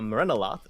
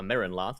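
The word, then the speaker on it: Merrenoloth: A Merenaloth, which I mispronounced saying a Merenloth, I missed an O.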